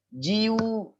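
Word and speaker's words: 自由: Contohnya jiu, jiu itu artinya kebebasan. Jiu. Tapi kalau ju itu senapan. Jadi beda besarnya yu-nya itu kalau kita salah arti, maksudnya misalnya kita nampak tulisan, oh itu yu-nya besar gitu ya. Yang huruf kedua ini cara bacanya yu kan. Itu yu-nya besar, oh berarti jiu gitu, jiu. Oh ini artinya kebebasan gitu. Ternyata yang nulis itu bukan jiu tapi ju gitu kan. Itu ju senapan gitu.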